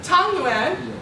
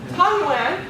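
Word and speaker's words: 汤圆: Tangyuan. Tangyuan.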